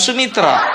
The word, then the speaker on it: Soemitro: Sumitro, Soemitro dibaca tetap Sumitro.